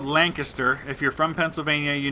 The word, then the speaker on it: Lancaster: by in Lancaster Pennsylvania and it is called Lancaster if you're from Pennsylvania you know this but